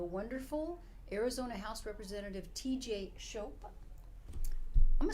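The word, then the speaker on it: Shope: do you spell that s h o p e or as I say hope with an s in front oh I like that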